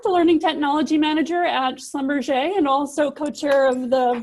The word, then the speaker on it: Schlumberger: It's I a forgot great the French pronunciation. I always say it's like a concept hamburger restaurant or something. It's Schlumberger.